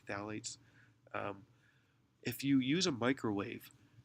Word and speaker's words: phthalates: There's other chemicals called phthalates. It's spelled with a PH, but it's pronounced with a TH, phthalates.